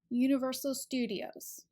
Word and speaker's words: Universal Studios: stress in a phrase Universal Studios usually the stew part is where we place the most emphasis or stress so it's